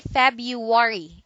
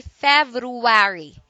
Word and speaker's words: February: end and February February don't say fab you worry do say February ok it is a